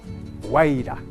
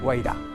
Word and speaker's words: Guairá: Los Guairá, en un guaraní mal pronunciado, Guaira. Los brasileños dicen Guaira. Bueno, en guaraní, Guairá.